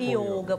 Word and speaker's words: yoga: Pela pronúncia do sânscrito, que é a língua que todas essas escrituras do yoga, todo o ensinamento do yoga está registrado, a palavra é masculina, é o yoga, então, o O é fechado.